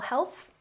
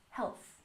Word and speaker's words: health: And return to full health. Put your tongue between your teeth. Health. Health.